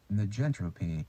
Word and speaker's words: negentropy: How to pronounce negentropy? I think that's right. I hope it's right. 한번 찾아봐야 되겠다. Negentropy.